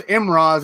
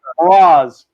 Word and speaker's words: Mraz: That Walter guy that keeps pronouncing Thomas Emrise as Emrise. And shall continue. Mraz. Just Mraz.